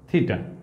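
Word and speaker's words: theta: সরণের সঙ্গে বলের কোণ থিটা, এই সিম্বলটার নাম হচ্ছে থিটা, উচ্চারণ থিটা।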